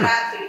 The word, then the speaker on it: रात्रि: अच्छा रात्रि रात को राग राग को राग को रात को त का उच्चारण नहीं आ रहा है आपका रात्रि रात्रि को कहो ना रात्रि ठीक है एक व्यक्ति